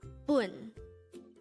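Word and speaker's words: 분: boon boon this is composed of just one syllable and this is pronounced as pronounce it with me boon the Korean term bun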